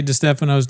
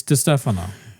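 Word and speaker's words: Distefano: Until if you want me to say Dphano's name correct, get his name right. Yeah, then I'll do it. Until then, it's Dano.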